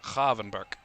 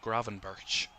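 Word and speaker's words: Gravenberch: It's Kavvenber to the official pronunciation. A lot of people called him Graven Birch in his first season at Liverpool of course if you remember.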